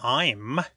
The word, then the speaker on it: AIM: So in Project AIM, and if we pronounce it I'm, A-I-M, I'm is the bija